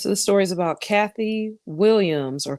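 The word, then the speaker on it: Cathay: the story is about Kathy Williams or Kath Williams as it's spelled c a t ha A Y who was the first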